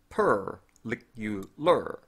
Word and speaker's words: particular: The word particular is an unusual example. In the British pronunciation, both the first AR and the AR at the end are shortened into schwas. However, in many American accents, they are themselves an R sound. So it's per, lick-u-lur, without a vowel.